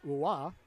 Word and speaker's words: Roy: I believe that was Joseph Roy. Or if he's French-Canadian descent, that would be Joseph Roy or Yossi. I believe would be the proper way to say it.